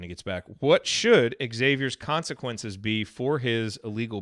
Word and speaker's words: Xavier: want to know whether it's officially xavier or xavier i know people pronounce it differently uh phil had a great